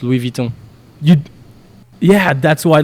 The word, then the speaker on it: Louis Vuitton: No, I don't pronounce the U. It's Louis Vuitton.